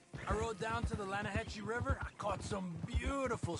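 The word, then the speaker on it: Lannahechee: the other day I rode down to the Lana Hetchy River I caught some beautiful steelhead trout you mean Atlanta Hasse no no Lana hacci it runs right near here yeah it's pronounced Lana Hass why is everything in English said differently than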